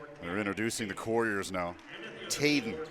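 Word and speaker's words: Tjaden: introducing the couriers now tayden that's how we're going to say it Dave t j a d e n I think they said tayden okay okay that's my fault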